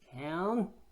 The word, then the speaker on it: can: 미우신 영어는 컨이라고 하는데요. 영국 사람들은 can이라고 읽습니다. 중요한 것은 여기서 끊지 않는 게 중요한데요. I can get rid of 이렇게 읽으면은 누가 봐도 뭔가 빠진 것처럼 느껴지지 않습니까?